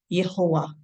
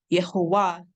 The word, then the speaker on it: Yahowah: And what they did was take the vowel symbols or the vowels of Adonai and put it on the name of Yod He Wav He, coming up with the pronunciation of Yahowah, or what some of you say, Yahowah.